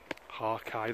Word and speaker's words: hake: that is i have i think that is the correct pronunciation of these i hate brushes they're actually called hakai they originate from japan i think the one the run ransom ones i used um he's sort of based they're sort of adapted from the the original japanese brushes and hakai i think he's how they are pronounced over there um frank clark